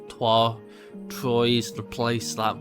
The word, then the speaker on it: Troyes: I always like to say Troy, but it's not, it's Troyes.